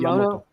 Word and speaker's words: Yamato: Space Battleship Miyamoto? Yamato.